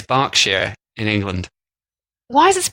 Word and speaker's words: Berkshire: spell things in yeah in America that's pronounced Berkshire as in like Berkeley University but just pronounced bark share in England so now you learned